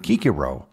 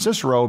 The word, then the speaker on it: Cicero: principia that being said there are other Latin words with a c that are usually not pronounced with a hard C Caesar and Cicero would technically be pronounced Kaiser and kikiro but we say Caesar